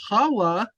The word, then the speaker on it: Hawa: Now, see, Hawa is the proper way to say the name of Eve.